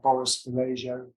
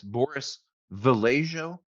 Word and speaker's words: Boris Vallejo: There are other greats as well, people like Boris Vallejo.